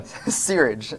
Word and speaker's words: Searage: because if you look at this, during Ray Sarge's tenure Sarge.